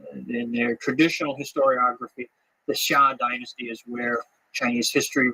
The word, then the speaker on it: Xia: Chinese history which is called the Sha uh that's spelled xia in modern Western romanization system the pinion system of uh of spelling Chinese words the Sha uh the